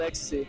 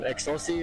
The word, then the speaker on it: EXOSSI: and, you know, that's whenever I stuck with Ecstasy. So, yeah. Oh, man. When I first saw the name, I thought it was um Excelsi or something like that.